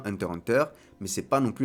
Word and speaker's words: Hunter × Hunter: Le titre original se prononce bien Hunter Hunter, mais c'est pas non plus la peine de faire les puristes. Je l'ai appelé Hunter x Hunter une bonne partie de